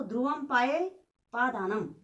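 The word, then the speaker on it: ध्रुवमपायेऽपादानम्: लिखा है ध्रुवम पाये, जो अवग्रह है इसका उच्चारण नहीं करना है। ठीक है ना। तो ध्रुवम पाये पादानम, ध्रुवम पाये पादानम।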